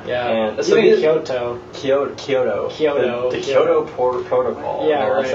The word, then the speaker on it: Kyoto: Similarly is Kyoto. Kyoto is pronounced the same way. It's not Kyoto, it's Kyo, which is blended together and kind of long, and then the to is short.